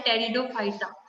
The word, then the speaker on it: Pteridophyta: तो वो उसके बेस पे हो सकते हैं कि आपको एमसीक्यूज पूछे okay now next is given टेरिडोफाइटा P is silent over here so आपको बोलना है टेरिडोफाइटा ओके Pteridophyta.